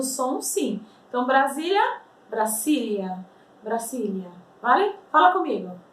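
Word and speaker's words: Brasilia: Gente, como nós pronunciamos o nome Brasília em espanhol? Presta atenção. Brasília. Brasília. Tá? Não existe som de Z em espanhol, por mais que escreva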